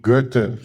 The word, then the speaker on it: Goethe: We call procrastination sloth in 5 syllables. So, but, actually, on a serious note, there's a character, great philosopher, Goethe, Goethe, That's it.